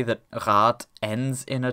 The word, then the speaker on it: Rad: When a syllable ends in a voiced obstruent, it is replaced by a voiceless one. Hence, this is pronounced rat, and this is pronounced objektiv.